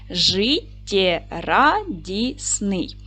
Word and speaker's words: життєрадісний: Давайте перевіримо слово жиддярадісне поділимо на склади життєрадісний наголос буде падати на третій склад ж - твердий приголосний